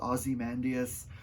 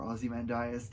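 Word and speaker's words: Ozymandias: out because it's short is called azy mandas or azy mandas there's I never know how to pronounce that one I think it's aim mandas that's how I think I've heard it but that's the name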